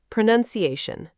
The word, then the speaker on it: pronunciation: Pronunciation. Pra-nuns. The stress is on the second syllable.